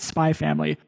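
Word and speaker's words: Spy × Family: So Spy Family is written out Spy X Family, but it is pronounced Spy Family.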